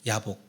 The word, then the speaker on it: 얍복: 감안하고 들으십시오 발음을 야곱인데 얍복은 히브리 말로는 뭐라고 발음하냐면 야복이라고 발음을 해요 예 야복 야곱이 야곱에 있는 거예요